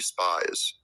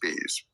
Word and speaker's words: Spies: this Democrat operative and his name is Charlie spies it's actually pronounced Spees but um this is